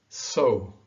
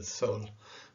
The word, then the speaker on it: sol: muted, quintao, legal, Brazil, so. Okay, that's not easy, huh? Because the tendency for an English speaker is to really pronounce the L, quintal, legal, Brazil, sol.